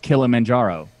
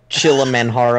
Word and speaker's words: Kilimanjaro: is named after Mount Kilimanjaro it's not the it's a Swahili mountain name it's not it's not a Spanish Kilimanjaro that's pronounced chill a man-whore oh thank you to